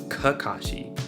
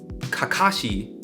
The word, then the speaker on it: Kakashi: the way we speak something like Kakashi is probably the most correct way but you don't see